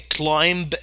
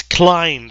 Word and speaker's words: climb: Visitors can climb the rock. By the way, B is silent. You don't say climb the rock. No, it's climb the rock.